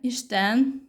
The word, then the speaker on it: Isten: And now, very interesting, in Hungarian, Isten, the same pronunciation, means God.